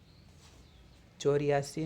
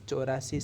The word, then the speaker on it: चौरासी: और फिर 84 कि चोर्यासी नहीं बोलेंगे चौरासी सही इसका उच्चारण है इस बीच और या सीखेंगे तो अच्छा बोलने में अच्छा नहीं है चौरासी यह शुद्ध उच्चारण है उसके बाद में पचासी